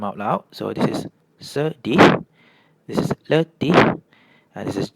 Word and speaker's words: sedih: So you can see whenever E is paired with an I or U it has an "er" sound.